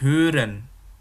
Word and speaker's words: hören: Itu namanya O umlaut. O umlaut itu bacanya kayak O dan E jadi satu. Jadi katakanlah tenggorokanmu bilang O, bibirmu bilang E, jadinya E, seperti itu ya.